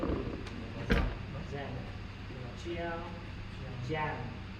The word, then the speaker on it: Giang: Tại vì bây giờ là đang bây giờ mọi người cũng How do you say Xiang? I thought this was I thought it was Xiang. Giang. Chiang. Giang.